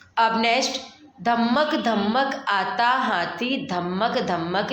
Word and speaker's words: धम्मक: ध्यान रखना है कि धम्मक धम्मक किस तरह से लिखा हुआ है. जैसे कि ध, आधा म, फिर पूरा म, क. धम्मक धम्मक. प्रोनाउंसिएशन कैसा हो रहा है? ध-म-क, धम्मक. और आता है और सेम